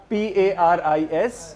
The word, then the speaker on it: Paris: कोई जानता है पेरिस को? पेरिस. हाउ डू यू से पेरिस इन फ्रेंच? फ्रेंच भाषा में पेरिस को कैसे बोलते हैं? पारी. पारी. और spelling PARIS, but you don't pronounce S, you say Paris.